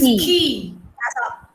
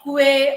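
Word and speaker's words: quay: It is key. It is key, as Aparna said. Yeah, it is not kue or kwe.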